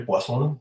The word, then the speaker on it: Poisson: En este punto, bueno, yo personalmente siempre digo la distribución de Poisson, porque pues así se pronunciaba el apellido, pero si en algún lugar oyen que dice alguien la distribución de Poisson, también se refiere exactamente a la misma. ¿Sí? Únicamente, pues que en uno pronunciamos en francés y en el otro en español.